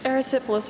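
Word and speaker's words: erysipelas: have the definition wait the origin please Greek aerosyphilis are there any alternate pronunciations aerosyphilis aerosyphilis aerosyphilis aerosyphilis e r y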